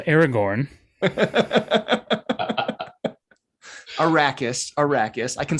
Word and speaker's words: Arrakis: anyway we're introduced to this desert world called ericus and it's or arrakis right i forget how they pronounced it arrakis that one iraqis sounds right don't make me